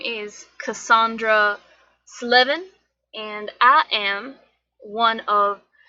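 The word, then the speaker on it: Sleven: Slevin. S-L-E-V-E-N. Slevin. So 11 plus 7.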